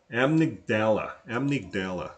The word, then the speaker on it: amygdala: Now they get into the 2 parts of our brain, and he says he was surprised to find that the amygdala, that's how you say it, this word right here, amygdala, it's the brain's panic button.